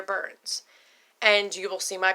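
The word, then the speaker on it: Byrnes: again is and my last name is spelled B yr n es it's burns and you will see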